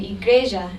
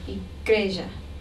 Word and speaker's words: igreja: Now here again we have a reduced sound when the final A is unstressed. This is called a schwa. So we say fala instead of fala, and igreja instead of igreja.